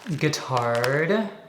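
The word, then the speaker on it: Guittard: me is this 72% guitard I think that's how you say it kind of like guitar um but with an RD or a d at the end this is 72% but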